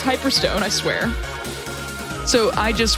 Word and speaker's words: Hyperstone: it right this time it wasn't hyperstein it was hyperstone i swear so i